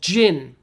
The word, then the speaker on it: gin: Now, another common one is called gin. Gin. This is a soft G. Gin. So, and then the I is I. So like in. I go in the room.